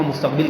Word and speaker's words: مستقبل: حال یا جس کو مستقبل کہتے ہیں، حالانکہ درست تلفظ مستقبل ہے، یہ بھی ہم غلط بول رہے تھے مستقبل، لیکن ہمارے اردو